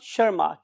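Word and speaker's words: Tschermak: इस लैंग्वेज में TS is silent. So Eric von शर्माक, इन 3 scientist ने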